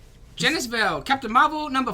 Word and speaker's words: Genis-Vell: and It's Genis-Vell.